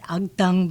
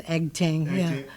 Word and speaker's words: Agtang: Yeah, it's a tang, but we say everybody says Eggtang. I want to say it properly.